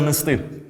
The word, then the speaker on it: нести: неправильна відповідь Все правильно нести чому це Бо майже всі дієслова мають наголоси на останню частину є винятки і тому